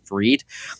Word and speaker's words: Fried: f r i d spelled like fried but pronounced freed so I bought that